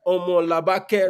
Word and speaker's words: Omolabake: Her name is Honorable Omolabake Badmus, if I'm pronouncing it right. Omolabake, Mm.